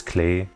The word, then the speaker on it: Klee: It's Klee, from Klee blood, which means clover leaf. You know how a lot of her stuff has like a clover aesthetic? It's Klee. It's German. It's not Klee.